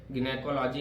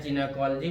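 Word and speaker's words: gynecology: जैसे यहाँ पे देखिए गिनेकोलॉजी में, अब इसको आप लोग चाहे गिनेकोलॉजी पढ़ें चाहे जिनेकोलॉजी पढ़ें, दोनों एक ही होता है, ठीक है।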